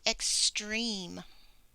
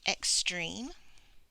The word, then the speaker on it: extreme: extreme this one has let's count vowels that helps there's an E and E and an E so we may be thinking this is three syllables it's actually only two and I'll show you why so we have X dream you have a e consonant silent e so even though we see three vowels we only hear two so this is a two syllable word extreme an extreme is